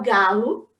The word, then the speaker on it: Gallo: O Galo, pronunciei certo?